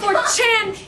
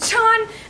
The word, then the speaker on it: 4chan: Personally, I do not believe in 4chan because it is not 4chan, it is Chan, and I do not believe in the Desu videos because they are pronounced Des.